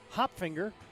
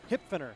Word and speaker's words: Hipfner: today and that included Axton hop finger I think I said that right I wrote it down so I made sure no I I said it wrong axon hip finger hip hipfner hipfner I think that's right hipfner yep as uh and